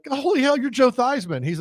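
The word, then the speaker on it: Theismann: change their name but they changed the pronunciation of their name was Joe thean becoming Joe thyman I believe the story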